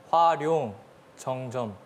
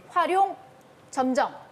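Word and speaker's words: 화룡점정: 활용 정점. 활용정점. 틀렸습니다. 자, 정확한 발음을 홍석현 학생. 활용 점정입니다. 활용점정.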